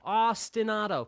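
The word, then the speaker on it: ostinato: The word is Austin. Austin like the city in Texas. Auto like automatic. Austin. That's not how it's spelled, but that sure is how it is said. Ostenado.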